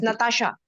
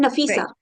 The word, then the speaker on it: Nafisa: I audible yes ma'am and I'm pronouncing your name right it's Natasha I am I'm nafisa NAFA I'm so sorry okay nafisa so the effect of